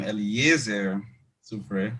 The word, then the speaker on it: Eliezer Supré: I am Eliezer Supré. That's how my name is pronounced.